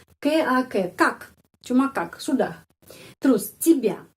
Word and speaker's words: тебя: Kenapa Y dibaca I? Karena penekanannya pada huruf ya. Karena itu Y dibaca I. Тебя. Penekanannya pada huruf ya. Sudah tahu peraturan ya. Kalau huruf ya mendapat penekanan tetap bacanya ya. Seperti namanya di alfabet ya.